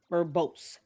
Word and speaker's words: verbose: definition of the word verbose. It'll be a new one for you. Two syllables. Verbose.